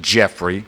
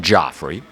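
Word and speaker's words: Geoffrey: 28 year old some pronounce it Jeffrey some Joffrey I'll say Joffrey Armstrong g-e-o double-f-r-e-y Joffrey Armstrong was at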